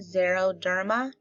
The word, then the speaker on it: xeroderma: Xeroderma. Zero, do you remember my story about the Xerox machine? Xeroderma.